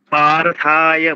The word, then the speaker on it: পার্থায়: এই যে দীর্ঘ উচ্চারণগুলো আমরা যেমন প্রথমে শ্লোকটা নিয়ে বলি, পার্থায় মানে দুটোই আকার মানে দীর্ঘ।